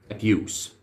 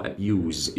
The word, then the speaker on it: Abuse: ايوه هي دي الكلمه اللي ان شاء الله هنبدا نتحدث عنها النهارده، هي كلمه ابيوز. وليها نطق تاني الغريب، النطق التاني اللي هو ابيوز، يبقى مره بنطق الاس ومره بنطق الاس ز.